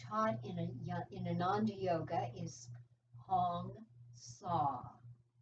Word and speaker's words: Hong Sa: The mantra that I was taught in Ananda Yoga is Hong Sa. Hong, it rhymes with song, and Sa, it rhymes with draw.